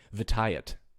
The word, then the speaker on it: Vitiate: emperor malgus and darth vitiate vitaet sorry i have to say it like that because people give me so much crap for mispronouncing his name on a video i did a